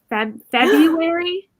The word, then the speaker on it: February: to about like from february i said february you're supposed to pronounce the r oh my god if